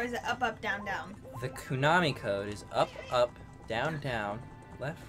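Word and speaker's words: Konami: Kunami like anime.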